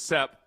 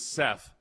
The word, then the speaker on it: Seth: Country was Sep, city was Seth.